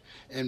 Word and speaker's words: eh: in a fun way using the word A. And for those of you who aren't Canadian, that's spelled E-H.